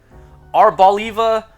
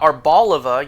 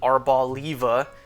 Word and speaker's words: Arboliva: Arbaliva oil. Not arboliva. You know for an olive. The pronunciation of olive is not in the Pokemon's name based on an olive. Arbaliva, as they officially told us it's pronounced.